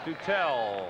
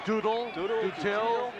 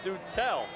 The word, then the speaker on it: Dutell: The Freshman third baseman stands in pronounced dutel checked out by Rick wolf behind the batting cage we've heard Doodles I said Mike what's it going to be he said it's do tell and it's funny because